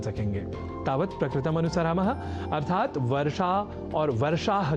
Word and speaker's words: वर्षाः: यहाँ ध्यान दीजिए कि वर्षा शब्द का संस्कृत में सदैव ही बहुवचन में ही प्रयोग होता है, अर्थात वर्षा नहीं वर्षाः ही प्रयोग की अवस्था में लिखा और बोला जाना चाहिए।